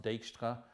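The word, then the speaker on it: Dijkstra: or the dejkstra algorithm i think that's a dutch name so it's probably pronounced dextra doesn't matter you'll still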